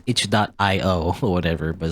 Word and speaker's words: itch.io: way i always say ichio even though i suppose even though i believe the creators of that website said like it's supposed to be it's supposed to be pronounced itch dot io or whatever but it's